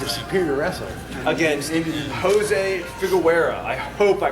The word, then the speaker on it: Figueroa: against Jose Figueroa. I hope I pronounced that right. Figueroa.